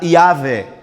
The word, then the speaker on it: Yahvé: Pero en español la pronuncia sería Yahve, más cercana al hebreo.